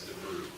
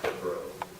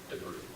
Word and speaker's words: Debreu: I've obsessed over this pronunciation as well, but I've confirmed it is Debreu. When I first read that name, I thought there was an A in there, and I thought it was pronounced Debreu, but it's Debreu.